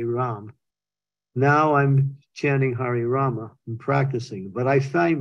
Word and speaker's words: Rama: if you probably the the Rama is not like the Krishna it's Krishna but it's Rama you pull in the a it's a guttural sound so it's Hari Krishna